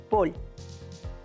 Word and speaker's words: fútbol: recordar en general que la primera con el énfasis en la primera sílaba foot es más usada por argentinos y españoles en cambio en méxico se utiliza la que lleve el énfasis en la última sílaba paul pueden identificar la nacionalidad